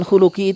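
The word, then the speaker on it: خُلُق: Kholki dengan khuluki itu beda harokat saja, hurufnya sama. Kho, lam, qaf dan ya nisbah terakhirnya. Kholki dengan khuluki, hurufnya sama tapi beda harokat, beda Kalau kholkun itu artinya penciptaan.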